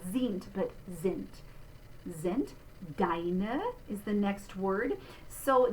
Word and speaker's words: deine: Notice that the final sound, that upside down E, that's a schwa or schwa in German, and it's their unstressed syllable, It's a bit different from how we do that in English, because we would, if we said this kind of English, it would be deine, and it would fall very far back.